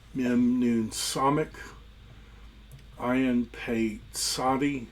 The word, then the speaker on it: Tzadi: Ayin, Pei, Tzadi, that's a TS sound.